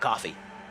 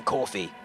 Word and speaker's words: Ko-fi: to a cup of coffee. It's more or less the idea, if you get me. So it's actually pronounced coffee than Kofi, but that's the idea of it.